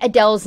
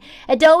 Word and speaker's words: Adele: It's not Adele, it's Adele.